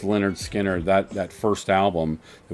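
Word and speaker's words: Lynyrd Skynyrd: what you know is their first album is pronounced leonard skinner that that first album it was was it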